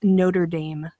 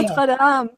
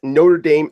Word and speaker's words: Notre Dame: So the comment that I had made was one particularly awful pronunciation that Americans have for anyone who studies and loves the French language is, sorry, the phrase Notre Dame.